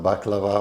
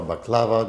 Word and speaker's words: baklava: going to make some baklava or you can pronounce it Bela or baklava depending where you are uh basically it's a